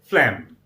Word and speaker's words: phlegm: It's a phlegm, exactly rhyming with stem.